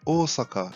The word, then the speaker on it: Osaka: E o som do japonês representado pela letra S tem pronúncia com som de S mesmo, e não de Z, como muitas vezes ouvimos. Como por exemplo, a cidade de Osaka e não de Osaka, e de Nagasaki, não Nagasaki.